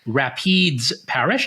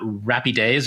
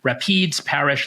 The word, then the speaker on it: Rapides: corrected me it is Rapides Parish not rappy days or whatever three-syllable thing I came up with last pod Rapids Parish Louisiana and I even